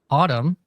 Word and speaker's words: Adam: So Adam informed me that his actual pronunciation of his uh his name is Autumn, spelled like Adam.